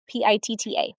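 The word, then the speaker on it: पित्त: Then you have a pitha, pi tta, and we pronounce it pitta here in the west.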